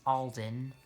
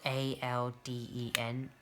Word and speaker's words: Alden: And this engine's name is Alden. And Alden is another character from Genty and Friends. With an E or an I? It's spelled A-L-D-E-N, Alden.